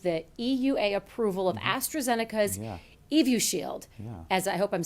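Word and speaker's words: Evusheld: she's talking about yeah so the astrazeneca product evu shield as it's pronounced is a combination of two monoclonal antibodies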